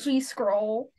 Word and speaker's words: GSCRL: hear more about gserl we pronounced it g scroll yeah yeah that's that's